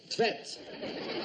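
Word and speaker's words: Tvedt: How would you pronounce that, then? Tvet. T-V-E-D-T.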